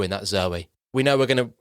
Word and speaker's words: Zooey: Isn't that Zoe? Yes, well, apparently it's Zoe, yeah. But there's two O's in it. So it's spelled Zooey. So why the fuck is she being called Zoe? That's incorrect. It's Zooey.